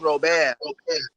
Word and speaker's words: Robert: spelt like robert but because he's from france it's pronounced robert and of course i